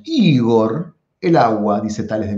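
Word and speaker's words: ὕδωρ: El cuarto elemento es el agua, o sea, Igor, así lo pronunciamos, Igor, el agua, dice Tales de Mileto.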